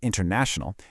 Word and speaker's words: international: So, in a word like international, the main stress is on na, but you can hear a smaller secondary emphasis on in right at the beginning.